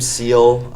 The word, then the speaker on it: Seal: Hi guys, I'm Seal. It's spelled like the animal and pronounced the same way.